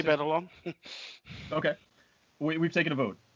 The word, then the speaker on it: Batalon: Jacob, is it Batalon? Does anybody know officially if that's? I would say Batalon.